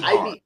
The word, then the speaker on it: Ibhar: Ibhar, Ibhar.